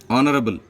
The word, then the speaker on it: honorable: Honorable, same, H is silent, and the second letter is started with O, and honorable A.